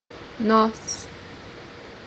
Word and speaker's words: nós: First one is pronounced as S in English. The example that we have here is the pronoun we, which is in Portuguese. nós, nós, The second pronunciation for letter S is pronounced as Z.